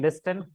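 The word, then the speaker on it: listen: एन आई F knife L आई एस टी एन लिस्टन English is very funny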